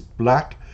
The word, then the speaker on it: 6LACK: Six Lack is Black and Jessie is Yessie